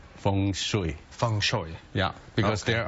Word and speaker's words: Feng Shui: A lot of people pronounce it Feng Shui, but for my culture, which is Feng Shui.